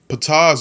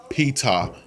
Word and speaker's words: Ptah: Ptah's original name in ancient Egyptian is reconstructed to have been pronounced as Ptah, based on the occurrence of his name in hieroglyphics, surviving into Coptic as Ptah, just as it is now written in English.